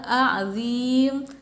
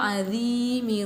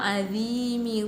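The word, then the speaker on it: عظيم: kebanyakan membacanya Subhana rabbiyal a'zim. Nah, itu perlu diperhatikan juga dan perbaiki dari sekarang. Harusnya Subhana rabbiyal azimi wa bihamdih. Gitu, Subhana rabbiyal azimi wa bihamdih. Bukan a'zim, tapi azimi. Nah, itu ya.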